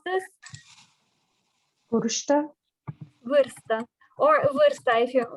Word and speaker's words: vârstă: Can you pronounce this? Vârstă.